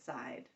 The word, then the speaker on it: side: it for me good we have this silent E let's look at our silent E rules type 1 says the vowel sound changes because of the E is that our reason